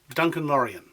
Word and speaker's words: Duncan Lorien: Listen to my name, Duncan Lorien. How many syllables are there in my name? 5.